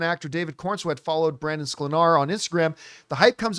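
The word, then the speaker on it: Sklenar: Fans have noted that David Kornsweet started following, and I finally learned how to say his last name, Brandon Slenar.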